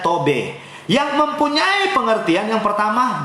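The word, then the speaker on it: טוב: Saya melihat dari bahasa asli Ibrani, menggunakan kata baik, menggunakan kata tob, bacanya tobe, yang mempunyai pengertian yang pertama baik, sedap, manis, senang, dan menyenangkan.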